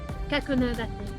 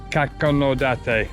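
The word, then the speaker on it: Kakunodate: It's pronounced Kakonodate. Kakonodate. That's the name of the town. Kakonodate.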